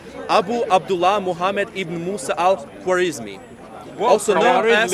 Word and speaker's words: al-Khwarizmi: a long name, Abu Abdullah Muhammad ibn Musa al-Khwarizmi. Also known as Khawarizmi. It's okay. It's badly pronounced.